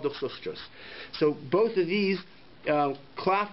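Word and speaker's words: דוכסוסטוס: It doesn't take that much time to practice that word and pronounce it correctly. Duchsostrus.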